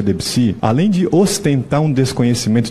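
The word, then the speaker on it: Debussy: Ou seja, falar em harmonia, falar em BAC, sendo que a pronúncia dele é bar, falar em debuci sendo que a pronúncia é debsi, além de ostentar um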